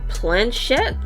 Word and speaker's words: planchette: A planchette?